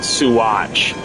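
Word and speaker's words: Saguache: Oh, it was a it was a town called Suatch, which is spelled entirely differently than the way you pronounce it.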